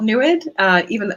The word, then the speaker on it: NEID: Yeah, it's called NEWID, but it's spelled NEID.